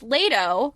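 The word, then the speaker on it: Leto: with her relationship with lato Leo yeah lato okay I said it right the first time even with her relationship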